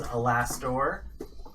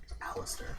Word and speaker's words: Alastor: his name is um Alister land or the previous pronunciation was alastor you know depending on your dialect could be both but I'm going to say aliser land um you traveled to